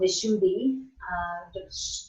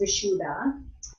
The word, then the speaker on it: vishuddha: then the shoe though sometimes it's called visshuddhi swim you just know Dan and I know my teacher called it the shoe B but here it's vishuddha and it doesn't matter which one you use I don't think it's